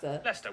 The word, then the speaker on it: Leicester: you through a couple of basics sester is pronounced leicester worcester gloucester w at the start of the